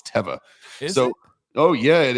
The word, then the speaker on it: Teva: there hiking, and they have like literally like Teva but I got corrected out there. Teva. I always said Teva. It's not. It's Teva.